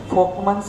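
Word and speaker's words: Volkmann: Folkman's canal, like the car is called as Volkswagen.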